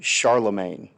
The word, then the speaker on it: Charlemagne: named Charles the great or to say his name the French way Charlamagne the previous lesson we